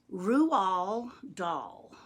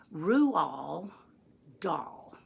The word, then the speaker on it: Roald Dahl: saying it wrong because it's a Norwegian name and you actually pronounce his name rule doll that's right rule doll say it with me Roux all doll and if you want